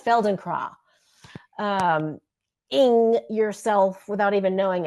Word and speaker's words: Feldenkrais: It's a German word. yeah. Feldenkrais. I think it's Feldenkrais.